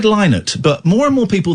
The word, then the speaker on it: Lynott: And I'm going to try pronouncing his surname in a way I've never done, but I think is actually the correct way. Phil Lynott from Thin Lizzy. Uh-huh. I've always said Lynott, but more and more